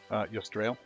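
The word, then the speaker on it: Yusdrayl: How do you pronounce it? Yostrail. Ystrail?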